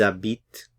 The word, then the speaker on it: habitent: The H is silent, so you have a little liaison here. Ils habitent, habite, ils habitent à Paris.